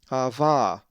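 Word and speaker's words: ἀββά: A Greek word that has the lowercase veeta is ava, which means something like dad and is number 5. Jesus used this word saying, Abba Father, in Mark 14:36. The accent is over the second alpha, ava.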